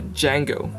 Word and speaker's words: Django: Next earphone I want to talk about is another earphone from Noble Audio called the Django. D-J-A-N-G-O. The "the" is silent, as Noble Audio kindly pointed out themselves.